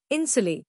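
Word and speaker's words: insulae: in small apartments called इंसुले pronounced इंसुले main were long white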